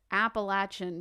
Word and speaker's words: Appalachian: area it's um it's appalachian because if you say if you don't say it right we'll throw an apple at you okay i get it